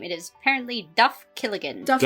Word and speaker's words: Duff Killigan: Okay, I mis I mispronounced his name. It is apparently Duff Killigan. Duff Kigan.